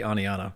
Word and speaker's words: Oneonta: And by the way, we have an Oneonta, Alabama. I love it. So, the Southern accent probably just messed that up. No. Actually, if you're in the South, you don't even pronounce the T.